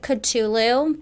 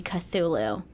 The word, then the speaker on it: Cthulhu: would you guys say I've always pronounced it pronounced it katulu but after looking into a little bit of um him for this episode I saw that it was meant to be Cthulhu Cthulhu but I like it